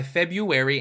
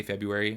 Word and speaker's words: February: It grinds my gears that there's an R after a B, and I'm literally born in this month, and ever since I was a kid, I just always say February, like February.